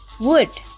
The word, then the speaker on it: would: The fourth, would. Repeat after me, would. Oke, jadi untuk yang nomor 2 dan 4, L-nya tidak dipronounce ya.